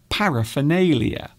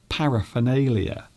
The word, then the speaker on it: paraphernalia: So this part of the word is actually pronounced like the letter F.